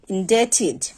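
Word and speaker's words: indebted: যেমন আমরা যদি কিছু ওয়ার্ড দেখি doubt subtle ইনডেটিড dot doubt subtle ইনডেড that means এই যে ওয়ার্ডগুলো আছে প্রতিটিতেই কিন্তু বি এর পরে আছে দট মিন্স এর আগে যে বি সেটা আমরা উচ্চারণ করবো না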